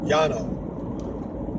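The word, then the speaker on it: Llano: and go to Atlanta spelled l-l-a-n-o two L's in Spanish is a y pronounced Yano but up here the green goes pronounce it glano even though that is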